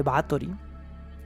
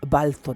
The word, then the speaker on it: Báthory: los dientes sino porque a pesar de que se escribe báthory y el 95% de los seres humanos lo van a llamar elizabeth de baa touring al parecer la pronunciación correcta es balfour y estuve investigando y